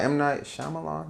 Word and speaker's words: M. Night Shyamalan: It's by M. Night Shyamalan.